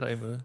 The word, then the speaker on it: Claymoo: Is that how you pronounce it? Claymoo.